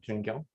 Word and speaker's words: Joonkyung: How do you pronounce it? Joonkyung.